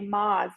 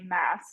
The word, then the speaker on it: Maas: I said Sarah J. Maas because I looked up a Google pronunciation, and I should have trusted the Book Talk girlies because they were right. Of course, Sarah J. Maas, not Maas.